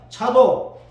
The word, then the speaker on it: 차독: 이 사독은 따랐습니다. 차독 히브리 발음이 차독인데 의롭다 그런 뜻입니다.